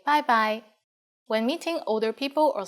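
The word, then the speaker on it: 拜拜: and you are right it's just like the english bye bye with a cantonese pronunciation bye bye and in formal situations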